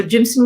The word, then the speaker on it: jimson: often all right so jimson weed is our most poisonous plant in the mojave desert one not to touch so it's spelled like jim and sun like a j-i-m yeah go in don't